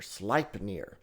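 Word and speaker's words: Sleipnir: So a lot of times Odin is seen riding his eightlegged horse, Slipeneir. Slipnir. Now that's spelled s l ei p n i r.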